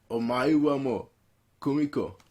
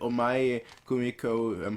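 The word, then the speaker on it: 黄前久美子: characters, 5 really, with Omae mo Kumiko. That's not quite how you say it. Omae Kumiko, who's playing the Euphonium, Sapphire, who's playing the contrabass, Kazuki, who's playing it.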